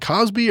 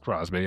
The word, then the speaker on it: Crosby: Is it Cosby or Crosby? Crosby. I said it wrong.